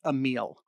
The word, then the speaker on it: Emile: looks all right uh austin says just checked video for pronunciation and he's going with a meal so emile wagner thank